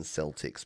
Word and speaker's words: Celtic: Now, it is Celtic, isn't it? It's not Celtic. It's I I get confused because of the the Boston Celtics, but it's definitely a hard C in Celtic, right?